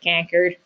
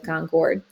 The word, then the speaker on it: Concord: She was actually from the city of Concord, and she made it very known that they pronounce it Concord. So we're going to say Concord instead of Concord.